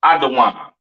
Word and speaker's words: Edom: can get through this Edom Adam the devil that the Bible speaks of your oppressor the so-called Caucasian man woman and child pronounced adaan uh excuse me Syrian